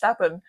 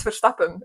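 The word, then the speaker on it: Verstappen: for example Max ven everybody says it with an English ACC and says Max ven but me as a Dutch as a Belgian person I say Max foren which is the correct way to pronounce which I love doing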